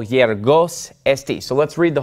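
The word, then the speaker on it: γεωργός: eta, or epsilon, or when it comes before an epsilon like this, it's more like a Y sound. Okay, so this word is pronounced yergos, yergos.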